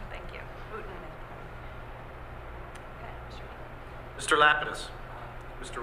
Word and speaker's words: Houghton: How do you pronounce that correctly? Houghton. Thank you. Houghton.